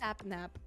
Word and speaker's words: Sapnap: Some people said I pronounced his name wrong. I feel like I'm his saying his name it is Sapnap.